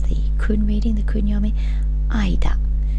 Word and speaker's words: 間: final Kani on this page means between it's pronounced for our purposes the Kun reading the kunyomi Ida Ida and again it's linked to a location with